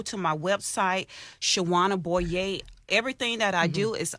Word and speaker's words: Boyer: me on social media up on the Shawanna boy yay calm and it spelled SH aw a and a B oh ye are or like it's like Boyer but it's pronounced oh yay so yeah I'm